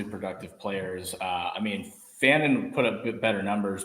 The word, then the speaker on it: Fannon: from Penn State and how do you pronounce Harold is it fine or Fannon I think it's fan okay I think it's Fannon yeah so Tyler Warren